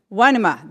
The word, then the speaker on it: Numa: So how do we pronounce it? Wanema, there we go.